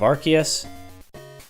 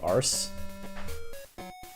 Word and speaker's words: Arceus: But before you come yell at me about my pronunciation of Archus, for me, the thing that decided it once and for all was Silvali's ability. RKS system. RKS. Play on Archus. I think the reason that's the English pronunciation is that they didn't want a bunch of kids saying ars, but yeah, that settled.